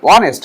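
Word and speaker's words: honest: হ্যাঁ, এইস এর উচ্চারণ যদি থাকে তাহলে তোমার কি বসে, এইস এর উচ্চারণ থাকলে এ বসে, না থাকলে এন বসে। অনেস্ট, দেখো এইস এর উচ্চারণ কিন্তু নেই, তাই এখানে এন বসবে।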